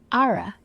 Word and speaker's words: Ara: Ara. Like aura, but with an R.